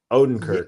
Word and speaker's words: Odenkirk: Odenkirk.